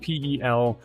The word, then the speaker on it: pelisse: It sounds like fleece, but it's spelled Pelisse.